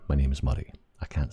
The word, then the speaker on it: Murray: It sounds like you said muddy or something. So, can't roll your R if you want a peaceful life. If you just want a peaceful life in North America, you can't roll your R, mate.